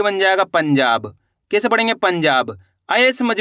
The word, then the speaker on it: पंजाब: पंजाब। आया समझ में? आपको करना क्या है? तेजी के साथ इसका उच्चारण निकालना है पंजाब।